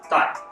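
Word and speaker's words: 大: Dai, c'est un mot que vous avez peut-être entendu avec la prononciation suivante qui est Tai. Ça veut dire important, grand. Comme dans Sifu, Sigong, Si Tai Gong. D'accord? Donc père, grand-père, arrière-grand-père. C'est vraiment le grand maître. Donc Tai ou Dai. Ça dépend un peu de la prononciation.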